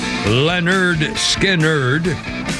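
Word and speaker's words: Lynyrd Skynyrd: here 1973 Leonard Skinner released their debut album pronounced Leonard skiner several of the albums track remain among the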